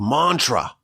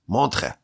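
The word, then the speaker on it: Montreux: He was in a yeshiva in Switzerland, in a place called Mantra. It's spelled with like E's and U's and X's, but the X is silent. Montre, I think is how you pronounce it.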